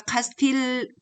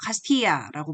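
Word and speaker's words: Castilla: 중간에 여러분 카스티아라고 보입니까 카스틸 이렇게 번역이 되는데 우리가 이걸 예라고 번역해서 발음을 해서 카스티아라고 부르고요 오른쪽에 초록색으로 되어 있던게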